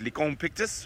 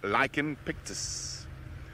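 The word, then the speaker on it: Lycaon pictus: It is called Licon d'Afrique in French, but in both French and English, it is, pronunciation slightly different. It's Licon pictus or Lichen pictus.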